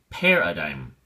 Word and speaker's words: paradigm: hard I it's like two nickels make up a dime so it's the same dime sound so we say paradigm paradigm we have two definitions